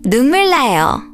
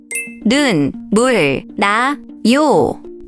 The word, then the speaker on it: 눈물 나요: When 니은 and 리을 come next to each other, the 니은 often changes to an 리을 sound.